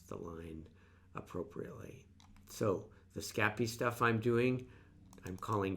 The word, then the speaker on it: Scapy: first we established that you should pronounce scappy scappy or probably if i was doing it french it would be scappy although that sounds more italian so i apologize to